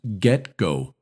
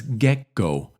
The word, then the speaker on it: get-go: English Dictionary it's pronounced GetGo with the primary stress on the first syllable you'll also hear people pronounce it as GetGo in normal to fast